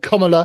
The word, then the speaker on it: Kamala: assassination attempt and that sort of stuff to Kamala, and that's how you pronounce her name, with her earpiece.